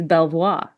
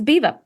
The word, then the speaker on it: Belvoir: is what's interesting because it's not spelled like how you'd think it is spelled b l v o i r so You' think it's Belvoir that's how I would say it what it's Beaver it's Beaver Castle so in terms of